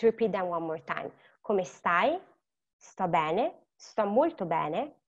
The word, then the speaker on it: come stai: Again, remember the sound is C-O, co, it's a hard sound, come stai.